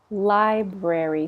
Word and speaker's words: library: Library. So this is the fun one. We don't pronounce that all the R's. Library. We don't need to do that.